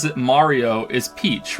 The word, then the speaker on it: Mario: that's cool but it's not Murio I'm not even American who says Murio no who who the pronounces his name Murio I think the only